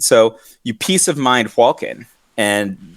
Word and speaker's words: Hakon: It's pronounced Hwalkin.